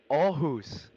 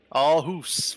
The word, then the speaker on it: Aarhus: It's gonna be very hard for you to pronounce, Chris, but we can try. It's Aarhus. Aarhus.